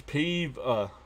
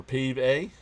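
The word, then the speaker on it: Pavin: If you're worried about pronunciation, it's pave uh or pave a pave popped up on in foul territory.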